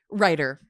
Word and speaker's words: Reiter: Writer.